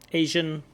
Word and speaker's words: Asian: is an asent country Asian didn't quite hear the J maybe he just mispronounces the word Asia and he mispronounced it as Asia but again going to be listening for more of this J sound an Asian country with